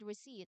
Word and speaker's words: receipt: The silent P is a prime example of a letter that is written but not pronounced.